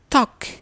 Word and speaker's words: talk: In the word talk, the L loses its sound and the word becomes talk.